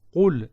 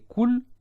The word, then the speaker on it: Qul: Tu imagines la différence entre Qul et Kul? C'est deux choses différentes.